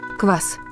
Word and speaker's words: квас: 在俄语和乌克兰语中，格瓦斯读作 Kvass，是发酵的意思，因为它是用面包乳酸菌发酵而成的。